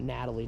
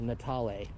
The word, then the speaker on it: Natal: is here's the family not Natalie natal excuse me for my pronunciation horrible of me yes wasn't wearing my reading glasses when I was reading that um that brochure a minute ago so it's natal beautiful so there the